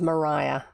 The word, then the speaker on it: Maria: Yes, it does look like Maria, but the way it was always pronounced in New Zealand is Mariah. They call the wind Mariah.